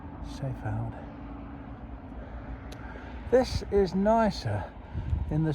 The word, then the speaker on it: Seefeld: One last look at Seefeld, or Seefeld as it should be pronounced. Seefeld.